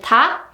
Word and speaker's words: 닭: And just like you can hear in 흑, 흑, and 닭, 닭, when you see these 리을 기역 double consonants, you can just choose the 기역 only, like 흑, 흑, and 닭, 닭.